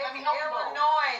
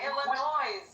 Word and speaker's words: Illinois: Illinois, not Illinois.